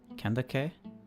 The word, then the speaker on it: Candace: a second here soup technically it's daihia just like Candace is Kanda kandake I is like in cat AKA is that right